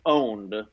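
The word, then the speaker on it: pwned: get data from called I'm gonna say it wrong and then correct it have I been owned but instead of an O a P okay yeah the hacker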